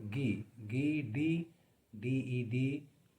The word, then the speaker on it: Guy de Maupassant: Although it is pronounced Guy, but it is spelled Guy, but it is pronounced as Guy D Maupassant, Maupassant.